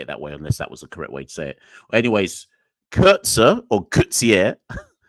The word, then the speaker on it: Coetzee: Anyways, Kurtzer or Coetzee. No, it is Coetzee because Hazeman just said Coetzee. I'm going to say Coetzee from now on.